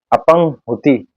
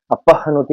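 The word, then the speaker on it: अपह्नुति: अपंगुति ये गलत है, अपहनुति होता है, हा का जो उच्चारण है वो आधा है।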